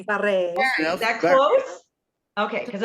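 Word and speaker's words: Bury: To Bari. Barry. Barre. Is that close? Okay, because I've heard it pronounced so many ways. But You think of a town, great it was site. Simon's It's like Barry.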